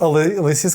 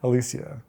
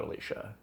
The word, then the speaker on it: Alicia: What's the right way? Alicia. Alicia. Not Alicia. It's Alicia. Do I really say Alicia?